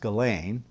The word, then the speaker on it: Ghislaine: how do you pronounce her first name now galain it's pernic it's spelled g g-h-i-s-l-a-i-n-e it's pronounced gallane uh galaine maxwell uh is on trial right now in